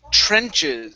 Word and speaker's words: trenches: we have the word trenches so with this word there's a tr at the beginning so instead of saying trench trenches it's a sure sound a c-h-r good just like that